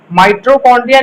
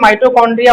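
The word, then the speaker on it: mitochondria: माइट्रोकॉन्ड्रिया नहीं माइटोकॉन्ड्रिया होता है, स्पेलिंग ध्यान रखना इसका, क्योंकि बहुत लोग माइट्रो लिख देते हैं इसको, माइटोकॉन्ड्रिया।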